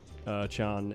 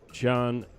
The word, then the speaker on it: Can: Chun.